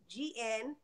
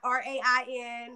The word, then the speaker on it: Reighn: So they can go to Reighn, and everybody should know is Reighn, Reign, not RAIN, not REIN. You know, and you know, people have to spell it right. REIGN. So it's Reighn like queen.